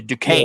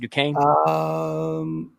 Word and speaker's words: Duquesne: So after BYU's loss, so BYU in the first round, after they lost to Duquesne. Yeah. Is that how you pronounce it? Duquesne?